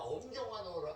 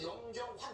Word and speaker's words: 염경환: 그러니까 처음에 앞에를 헷갈렸다가 엄경환으로 알았다가 나중에 나를 염경완으로 또 알았어. 아니 진짜 그게 발음이 환보다 경환 그러면 그렇지. 완으로 언제까지 그럼 완으로 한 거야? 경완. 아 그냥 살면서 이제는 염경환 제대로 알고 지금은 한참을 엄경환 그다음에 염경환 이렇게 제 이름이 되게 어렵나 봐요.